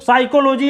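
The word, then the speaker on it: psychology: जैसे साइकोलॉजी अगर लिखना है साइको, तो ये साइको पी से लिखेंगे, पी से, कहते हैं यहां पे पी साइलेंट है।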